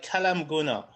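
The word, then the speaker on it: Kelaat M'Gouna: It's called Kalam Guna.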